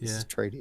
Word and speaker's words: Atreides: How you pronounce that? Atreides. Yeah. There we go. It's Atreides.